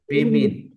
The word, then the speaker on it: women: women. What is that? Women. So the correct pronunciation is women.